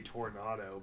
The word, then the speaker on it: Toronado: don't know how like how you look at that and say Toronado but if you see a tornado you know it's a tornado yeah but if you